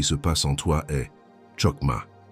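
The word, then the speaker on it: חכמה: La parole hébraïque qui définit exactement ce qui se passe en toi est chokma. Prononcela avec moi où que tu sois. Rokma chocma.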